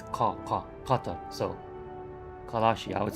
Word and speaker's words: Qatar: but it's, I mean, since it's a Q, kind of like, you know, the country, Qatar, it's not Ka, it's Qatar, so Kalashi, I would say Kalashi's scavenger.